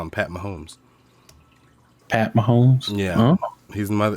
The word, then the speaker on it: Mahomes: mahone so it's patrick so i'm calling him patrick mahomes i used to always call him pat mums but okay i always said